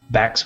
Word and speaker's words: Bax: Bax with an X, B-A-X. Rhymes with tax.